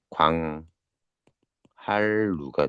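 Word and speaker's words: 광한루: 그래서 얘 어떻게 발음합니까? 광 할루가 돼요. 광할루. 이렇게 붙여서 왜냐면요 룰을 떼어 가지고 광함만 쓰지 않습니다. 우리가 광할루가 맞아요.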